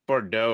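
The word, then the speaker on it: Boudreaux: last name parker it's bordeaux or something like that okay i thought that was how it is like you know the x is silent or whatever yeah um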